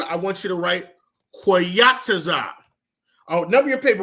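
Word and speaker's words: Qayataza: So number 1 on your paper, under seasons, I want you to write Koyataza.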